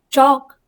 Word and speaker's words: chalk: Leaf, calm, pale, jail, palm, hall, clean, calf, shelf, chalk, talk, silk, balm, plum, self. तो आपने सुना होगा काम में एल साइलेंट है, एल की साउंड नहीं आई है.